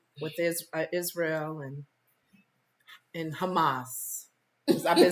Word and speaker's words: Hamas: is Israel and and Hamas I've been saying it wrong I've been saying humus like the H the food like Trump said it